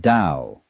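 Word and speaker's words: 道: This principle of organic growth they call Tao, that's pronounced Dao.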